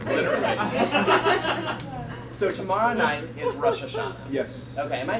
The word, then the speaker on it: Rosh Hashanah: One would be like more of a Eastern European pronunciation, one would be more modern Israeli pronunciation.